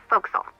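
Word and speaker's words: forecastle: ship, but it's pronounced folks. Why is that? Try pronouncing it like an English sailor with no formal education. Faux castle.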